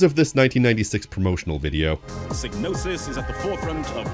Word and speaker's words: Psygnosis: It's Signnosis. And yes, it's pronounced Snosis. How do I know? Because of this 1996 promotional video. Snosis is at the forefront of development and design.